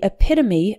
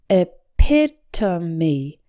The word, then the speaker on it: epitome: category or type and this word has four syllables with the stress on the second one it pit to me epitome number four mishap